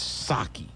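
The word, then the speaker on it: Psaki: i say last name but the p is silent so it's sake okay she said well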